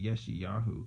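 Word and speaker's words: ישעיהו: I call it Yeshayahu because it's got Yahu, but it's Isaiah, then that's why I'm thinking that.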